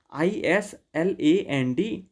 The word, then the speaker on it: island: you can see here i s l a n d but its pronunciation is island s is silent same way there are